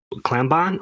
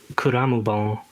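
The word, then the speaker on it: Clammbon: them out in their spare time but they spell that klambon or c-l-a-m-m-b-o-n oh like an actual clam so kuramubong comes from this old japanese story by miyazawa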